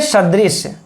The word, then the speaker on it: सदृश: वत अर्थात तुल्य सदृश, सदृश कैसे बोलेंगे मित्र इसको, सदृश। किस लोग कह देंगे सदृश। तो स और श का मित्रों हम लोग उच्चारण ही ठीक से नहीं कर पाते हैं, उच्चारण पर भी हम लोगों को ध्यान देना होगा।